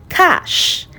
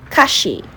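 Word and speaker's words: cache: Okay, this is pronounced cash like you're talking about money. Cash is not cashy or kak. No, it's cash.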